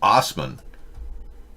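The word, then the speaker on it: Assman: of his truck when ass man pronounced osman applied for a personal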